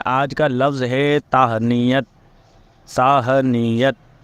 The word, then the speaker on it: تہنیت: کا لفظ ہے تہنیت۔ ساہنیت، تے ہے نون چھوٹی ہے اور پھر تے، ساہنیت، اسے تہنیت بھی بولتے ہیں، تو صحیح تلفظ اس کا جو ہے وہ ساہنیت ہے۔ اور یہ جو لفظ